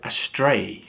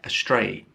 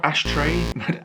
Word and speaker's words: astray: one number 11 is astray astray not astray astray slightly different pronunciation um and this means